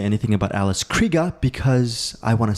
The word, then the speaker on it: Krige: alfre woodard we are now going into alice pronounce the name Matt Krieger kreega Alice Krieger who plays the Borg Queen so